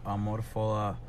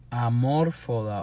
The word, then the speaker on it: Amor Foda: Amor Foda o Amor Foda. Es que si fuera Esdrújula, se supone que lleva acento en Amor Foda. Y no tiene acento. So, es Amor Foda.